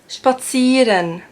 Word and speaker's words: spazieren: But if it's the opposite around, so if there's an I first and then an E, then you pronounce it like a long E.